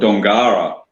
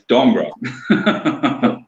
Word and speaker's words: Dongara: We got a place, Dongra, just south of Geraldton, and people call it Dongara. And it's like, no, it's Dongra.